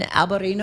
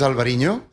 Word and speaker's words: Alvarinho: Um I don't want to uh mispronounce Basto Tanat um Alberino. Alvarino. It will start with a with a white wine. Yeah. It's u this is Alvarinho.